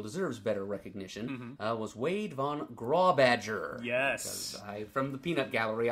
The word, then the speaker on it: von Grawbadger: And, it is indeed Wade von Grawbadger, not Wade von Grawbadger, as I've sometimes guessed it might be.